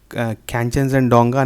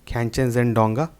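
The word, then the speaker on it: Khangchendzonga: आपका ऑप्शन 1 है कैंचनजंगडोंगा national park, जिसको आप लोग कंचनजंगा नेशनल पार्क भी बोलते हैं, पर एक्चुअली उसका प्रोनाउंसिएशन जो है वो है कैंचनजंगडोंगा। और सेकंड है नंदा देवी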